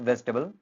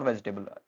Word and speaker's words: vegetable: क्या बोलते हैं इसको वेजिटेबल इट्स नॉट वेजिटेबल वेजिटेबल बोल के आपने क्या कर दिया इसके चार सिलेबल बना दिए सिलेबल होते हैं जो आपकी आवाज बनाते हैं शब्दांश जबकि यहां तीन सिलेबल हैं वह क्या है वेज टेबल वेस्टबल।